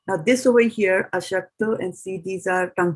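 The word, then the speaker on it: अशक्तो: Now this over here, aśakto, and see these are tongue twisters because there's a sha over here and this is just a sa.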